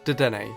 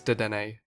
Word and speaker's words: Dedenne: Up next is the newest addition to the Pikachu ripoffs, Dedenne, or Dedenne how it's spelt.